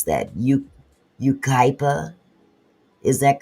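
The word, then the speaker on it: Yucaipa: a Big Five parking lot in I can't pronounce that. You Ukipa. Is that correct? Barber Yukipa.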